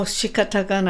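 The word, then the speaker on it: 仕方がない: Shikatagana, right?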